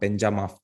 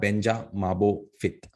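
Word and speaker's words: Benchamabophit: which has the what benjamin i always pronounce this wrong thing wrong but it's what banja mabo fit the marble temple and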